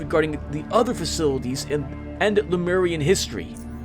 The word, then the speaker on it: Lemuria: the other facilities and Lemurian history. Yes, Lemuria. I've been pronouncing it wrong for years.